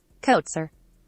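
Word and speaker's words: Troy Kotsur: deaf actor troy torsor how do you say his name said his name coat sir kotzer after winning best supporting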